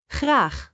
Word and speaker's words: graag: Graag. Remember, the G here is not like the English G. It is more throaty.